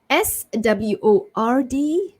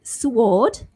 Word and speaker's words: sword: SWORD. So it's not sword, but silent W, sword.